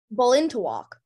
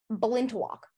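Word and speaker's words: balintawak: fibers with a kerchief and apron to match Bolin to walk uh may I have any alternate pronunciations please lock is the only pronunciation okay belind to walk may I have it used in a sentence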